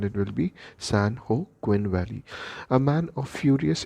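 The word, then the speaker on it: San Joaquin: California and it is it is to be pronounced in Spanish so if we talk about the Spanish pronunciation of this word it will be San Hawkwind San Oh Quinn but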